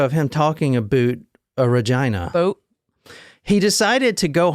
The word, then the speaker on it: Regina: next stop was Regina and that is how you say it not Regina it's Regina I saw a video